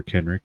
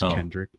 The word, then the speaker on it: Kenrick: You don't remember in Generica where everybody kept pronouncing Sir Kenrick as Kendrick?